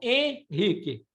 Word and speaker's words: Henrique: Henrique, por exemplo, em português você não fala o N, você só faz o som nasal. Henrique.